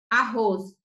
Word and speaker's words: arroz: r em cada sílaba mas a pronúncia é como se fosse só com um único r arroz a gente não fala